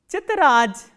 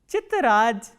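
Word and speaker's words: тетрадь: The next word we have is chitraj, chitraj, t, ye, t, r, a, d and soft sign, chitraj.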